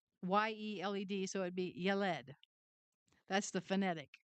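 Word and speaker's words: ילד: And the word child is it's pronounced yalled spelled ye le. So it' be yalled.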